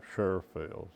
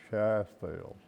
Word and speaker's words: Sheffield: From all of them came from the same place, so they're not Sherfields, they're Sheffields. It's just a pronunciation. Yeah, that's right. No R's in the name.